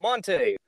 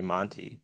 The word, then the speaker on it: Monte: SJW Comic Book Club, Monte. Welcome to the show. Hi, thanks for having me. Thanks for being here. Also, you actually pronounced my name right. Usually people say Monty.